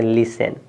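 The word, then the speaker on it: listen: इसका उच्चारण नहीं करेंगे देखिए यहां लिखा है एल आई एस टी इ एन तो टी के जस्ट बाद न है तो टी के जस्ट बाद न है तो टी आपका साइलेंट तो इसको पढ़ेंगे ली और एस ई एन बस टी तो साइलेंट हो गया तो एल आई एस ई एन पढ़ेंगे लिसन क्या है लिसन क्या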